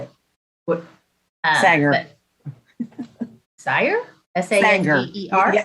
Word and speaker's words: Sanger: S-A-N-G-E-R? You have to throw a bit of an Okie accent into it.